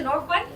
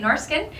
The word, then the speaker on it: Norrsken: So for those of you who are new to Norrsken, that's how we pronounce it in Swedish, but it's okay if you say Norrsken.